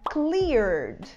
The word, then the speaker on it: cleared: gente traz a palavra cleared. Cleared. Cleared é autorizado. Pode ser também algo que foi limpo. Cleared. A gente escreve com R-E-D no final, mas a gente não pronuncia esse E.